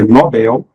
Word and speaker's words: Nobel: que mais ca prova não pode esquecer é Nobel novel novel é novato Condor cateter e ureter